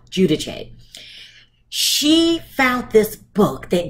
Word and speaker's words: Giudice: the show Teresa Giudice they call her Judah Giudice but you know if your Italian is pronounce Giudice she found this book